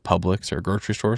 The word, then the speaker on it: Publix: But at the very least, give me some ideas of something I could buy, at like Publix or a grocery store or something like that.